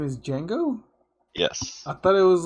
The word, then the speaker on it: Django: your dad's name is django yes i thought it was like the d is silent shut up i thought